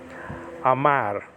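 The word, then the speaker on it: אמר: it does in english so it's just amar okay and the r is pronounced uh with your tongue um toward the top of your mouth to the top of your mouth it's very hard to pronounce that in that resh that are uh sound uh at the end of the hebrew word so but that's not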